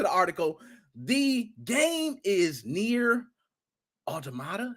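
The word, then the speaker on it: NieR: even read into the article the game is near automata it's how you pronounce it yo a shout out did you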